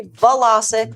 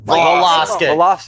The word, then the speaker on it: Vlasic: But it is actually Vlasic. Vlasic. Yes. Like the pickle.